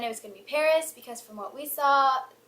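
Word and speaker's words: PVRIS: start off talking about Paris Paris spelled p v r i s um they replac the A's with the with v's and I just think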